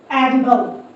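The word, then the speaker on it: edible: बी एल ई बल एडिबल एडिबल यहां पे आई जो है ये इ साउंड दे रहा है अपना शॉर्ट वाउ साउंड दे रहा है।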